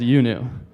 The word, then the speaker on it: IUNU: to pronounce and you see IU andu it's pronounced youu thank you all right third time's the charm